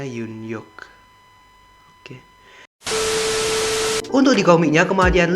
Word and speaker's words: Yoon-hyuk: Bacanya Yoon-hyuk.